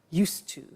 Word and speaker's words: used to: have now, we use used to. Look at the spelling. It's U-S-E-D and then T-O. But the pronunciation is not used, it's used.